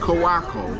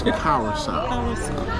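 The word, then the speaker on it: Curaçao: Not Curacao. It's Curacao.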